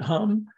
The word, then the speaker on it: Om Mani Padme Hum: I learned it Om Mani Padme Hum, but others pronounce it Hum. And in Tibet, I think they pronounce it Ham. It's just different cultures, different languages.